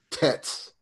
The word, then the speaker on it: Tet: Tets. Use a more softer, like a d sound.